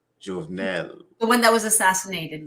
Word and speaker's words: Jovenel: Jovenel The one that was assassinated recently.